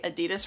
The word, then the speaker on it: Adidas: Also, I totally know that Americans say Adidas wrong. It's actually technically Adidas. I don't know why that feels so incorrect to say, but that is actually the correct way to say it.